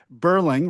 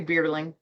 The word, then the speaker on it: Beerling: now I'm assuming your last name is pronounced Burling, right? Is that correct? No, it's actually Beerling, like beer. Beerling.